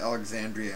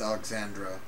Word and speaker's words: Alexandra: Oh, I've been pronouncing it Alexandria, and it's Alexandra.